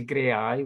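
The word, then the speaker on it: Graeae: you go on to grey eye which is um www dot gray which is spelled g-r-a-e-a-e dot org and the head of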